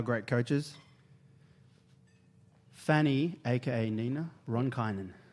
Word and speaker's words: Ronkainen: Ronkainen? Is that how you pronounce it? After a year. It's pretty good, actually. Yeah. How do you say it? Ronkainen. Ronkainen.